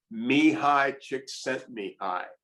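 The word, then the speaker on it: Csikszentmihalyi: is and this is apparently the correct grenade pronunciation me high chick sent me i and it has about a hundred letters basically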